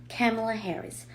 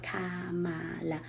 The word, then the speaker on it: Kamala Harris: Número 1, el nombre se escribe con 3 A's, pero en todas las A's no se pronuncian así fuertes como en español. Kamala. No, la primera A sí es fuerte, A, y tiene el acento K. Las otras dos A's se pronuncian más cerradito y como si fuera una E, así.